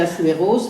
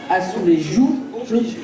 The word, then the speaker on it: azulejos: C'est azulejos, comme on dit, azulejos, moi je dis azuleros, donc voilà. Alors, en espagnol, je sais, donc il faut vraiment prononcer à la portugaise, azulejos, obligé, azulejos, voilà.